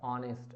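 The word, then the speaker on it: honest: Everyone respects blank ऑनेस्ट person, everyone respects an ऑनेस्ट person, N क्योंकि यहाँ पे आ रहा है ना, प्रोनाउंसिएशन क्या आ रहा है, ऑनेस्ट अ।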